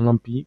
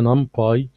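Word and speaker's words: NumPy: والنم باي دي اللايبرري او ساعات في ناس بتقولها نم بي، بس عشان بس ما تقولش الراجل ده بيقول كلام غريب ليه، هي نامبي لو انت نطقتها بالانجلش يعني طبقا لكتابة الحروف فهي نامبي، لكن لو انت عايز المقصود منها هي نام باي، وفي ناس كتير بتنطقها كده سواء عرب او امريكان او اي دولة في الدنيا، لان هي نام نيوميريكال يعني نيوميريكال، وباي اللي هي بايثون.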